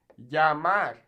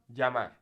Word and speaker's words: llamar: Now, in places like Argentina, they'll actually pronounce this kind of like a J. So they'll say pollo, or llamar. Now, I personally don't speak like this. I speak a more Mexican-style Spanish. However, if you're interested in learning a particular accent like that, you can absolutely say that, pollo or llamar. But as a general rule of thumb, I'd say you should just say it like a Y.